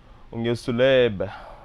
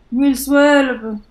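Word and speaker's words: ungil tuleb: Ungiltuleb. I remember that B at the end is actually pronounced a little bit more with force. So let's just do it again. Ungiltuleb.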